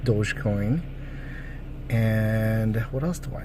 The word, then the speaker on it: dogecoin: have some dodge dogecoin I want to call a doggy coin but it's pronounced dogecoin and what else do